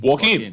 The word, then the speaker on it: Joaquin: Was it Joaquin? How do you pronounce that one? Joaquin.